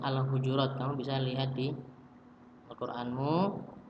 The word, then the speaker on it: Al-Hujurat: Ini bacanya Al-Hujurat.